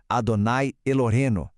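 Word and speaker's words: אדוני אלוהינו: Por isso, vamos passar pela pronúncia parte por parte. A primeira parte é Shema Israel. A segunda é Adonai Elohenu.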